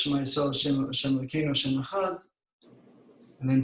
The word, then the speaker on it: Echad: It says in the Dalet, Echad, so it's a Hebrew word made up of 3 Hebrew letters, Aleph, Ches, Dalet. He says that lengthening of the pronunciation should be on the Dalet.